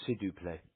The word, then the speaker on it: s'il vous plaît: s'il vous plaît. Thank you. It's s'il vous plaît. It's what? It's when you pronounce it, it's s'il vous plaît.